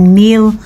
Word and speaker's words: Nile: Pero dito sa kanila binibigkas nila ito ng Neil river.